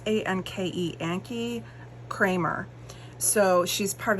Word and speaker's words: Anke: And so today's sketch looks like it was a hip kit sketch, and it was by, I'm not going to pronounce her name right, it's A-N-K-E, Anke Kramer.